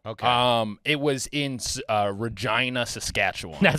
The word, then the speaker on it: Regina: Um, it was in uh Regina, Saskatchewan. That's not anything. No. Regina. You know what that's next to? The city that rhymes with fun. That's the classic Regina joke.